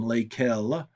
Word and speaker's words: lesquelles: for masculine plural, and lesquelles for feminine plural. Now, all four are pronounced the same, but all four are spelled differently.